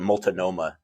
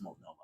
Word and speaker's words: Multnomah: that's yeah, like, and they kept calling it Multnomah too, and I was like, it's Multnomah.